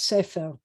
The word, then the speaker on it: Sefer: I used to pronounce this one always as A, and we were told that it was like Sefer by the book, but it's Sefer.